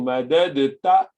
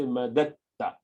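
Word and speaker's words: مددت: you read as tajweed, rather than saying madadta, madadta, which is nasarta, you just say madatta, because it is easy to pronounce ta there, because dal and ta comes from the same makhraj.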